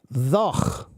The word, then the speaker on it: though: But a long time ago, the word though was pronounced differently. Now we say though, but a long time ago, many hundreds of years ago, the word was pronounced thoch, thoch, thoch. It had this sound, okay?